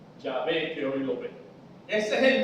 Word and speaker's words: Yahvé: A, aquí E, sin la O, y se pronuncia Yahvé. Los dos se utilizan en la Biblia. Las dos formas. O Jehová, Jehová, o Yahvé. Yahvé que hoy lo ve.